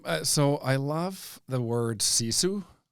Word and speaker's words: sisu: Yeah, my So, I love the word sisu. Okay. And it's spelled s i s u.